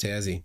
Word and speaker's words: Tassie: what tasmania looks like um pronounced tazzy got it got it